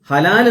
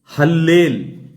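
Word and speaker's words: הלל: എന്നും ഉച്ചാരണത്തിലാണ് അത് വായിക്കേണ്ടത് നമ്മൾ മാന്യതയോടെ വായിക്കുകയാണെങ്കിൽ അതിനോട് നീതി പുലർത്തി വായിക്കുകയാണെങ്കിൽ ഹല്ലേൽ എന്ന് വേണം വായിക്കാൻ അല്ലാതെ ഹലാൽ എന്നല്ല വായിക്കേണ്ടത് നന്നായി ഹീബ്രു അറിയാവുന്ന പല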